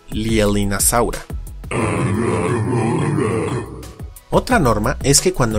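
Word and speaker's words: Leaellynasaura: podríamos pensar que se pronuncia Leelinasaura, pero no es el caso, pues el diptongo EA no es latino, sino inglés, así como también la doble L, ya que deriva del nombre propio, que se pronuncia Lielin, así que queda como Lielinasaura.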